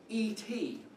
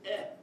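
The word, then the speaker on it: את: The Aleph is silent, but by default you give us this is et, because you can't just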